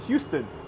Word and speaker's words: Houston: And I can only imagine Houston.